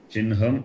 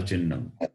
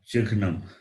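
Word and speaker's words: चिह्नम्: How do you pronounce this word? Chinham. Chinham or Chinnam. Okay. Yes. But not Chikhnam.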